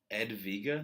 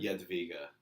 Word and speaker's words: Jadwiga: Edviga? Jadwiga. Can you spell it? Jadwiga. The closest translation to it is German, which is it's Hedwig in German, but it's Jadwiga in Polish.